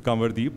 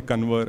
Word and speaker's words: Kanwardeep: so my name is kanwadi but there's an n so the n is the nasal sound but uh everybody in school called me convert and i didn't have